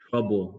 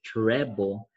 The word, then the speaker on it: treble: not want to say a lot of people think it's this this is wrong trouble like you're in trouble at school no it's not trouble cliff okay it's treble so make sure you